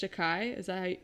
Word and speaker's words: Takei: One of the facts that came up at the beginning of the movie is that George Takei, that's how you say his name, right?